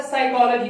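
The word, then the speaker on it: psychology: हमारे पास है साइकोलॉजी, इसके अंदर S जो है ना P साइलेंट होता है।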